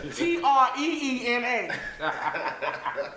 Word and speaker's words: Trina: I'm like, "No, Treena." Or Treennah. Let's phonetically spell it out.